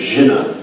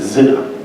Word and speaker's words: Jen: and so my character my heroin's name is Jen and they pronounced it Zen um so immediately it's